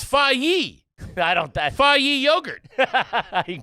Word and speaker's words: FAGE: That's got to be a soft G. Them Europeans like a soft G. They love a soft. They love a soft G. Uh, I have one too that's going to blow your brains out. I would say faj. Nope. You ready? Fi. Well, yes it is.